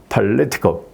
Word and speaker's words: political: poetics 여기 IC가 있으니까 그 앞에 poetics 예, 이렇게 예, 발음하면 되는 거고 그 다음에 여기 IC가 있으니까 이 앞에 IT에 이제 액센트가 들어가는 거죠. 그래서 political 예, 이런 거는 이제 좀 영어라도 이제 조금은 액센트가 이제 좀 익숙해질 필요가 있어요.